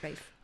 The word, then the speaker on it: Rafe: Rafe, what name is that, Rafe? Rafe. It's funny. Rafe is the sort of traditional, the sort of old-fashioned pronunciation of the word Ralph, of the name Ralph, like Rafe Fiennes.